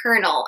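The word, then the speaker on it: colonel: And why do we say kernel as though it has an R in it, which it doesn't?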